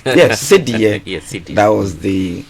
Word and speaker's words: Cedi: So in 1965, we had the Cedi, which was the symbol. I like the way you're pronouncing it. That's more authentic. Yes, Cedi.